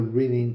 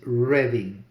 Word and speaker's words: Reading: All my life, reading has been Reading, has been pronounced reading. Why would this be reading?